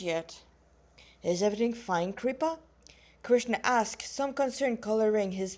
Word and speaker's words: Krishna: means a limited beauty Krishna or Krishna yeah we don't really pronounce the a actually the way it's written Kri a session you